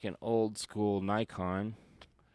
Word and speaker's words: Nikon: So, that's like an old school Nikon or Nikon apparently as the rest of the world says it. We pronounce it Nikon. We say Nikon, you say Nikon.